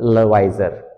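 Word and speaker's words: Lavoisier: तो सबसे पहला साइंटिस्ट दैट इज एंटोनी लेवाइजर। कुछ लोग लेवाइजर कहते हैं, कुछ लोवाइजर कहते हैं। ठीक है? That is अप टू यू। आप उसको कैसे प्रोनाउंस करना चाहते हो कर सकते हो। कोई इशू नहीं।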